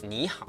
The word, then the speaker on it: 你好: When 2 third tones appears together, the first one changes into the second tone, the rising tone. For example, in 你好, which means hello, the first word is actually pronounced as 你好.